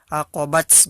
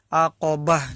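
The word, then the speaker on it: عقبة: kan tapi sukun Kanya bukan huruf ta bukan menjadi huruf ta acrobats bukan tetapi aqabah Jadi huruf a huruf h-nya kalau kita sukun kan Hai nah Oke selanjutnya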